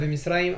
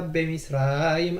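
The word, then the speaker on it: בְמִצְרַיִם: Donc Haya ve Misraim, attention, sur ve Misraim, il n'y a pas de dagesh. C'est pas Haya be Misraim, à part si vous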